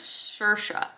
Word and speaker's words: Saoirse: Let's go back to my Google pronunciation, shall we? Saoirse? I'm pretty sure it's Saoirse.